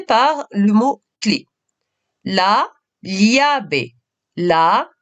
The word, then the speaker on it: llave: Alors, petite indication concernant la lettre L, il s'agit de la prononcer comme si, en français, c'est l'équivalent du L et du I. Li. On va commencer par le mot clé. La, llave. La, llave.